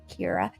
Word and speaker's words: Kiera: And now I can say her name correctly because that's how Kiera is the way that you say it, not with the soft C, hard C.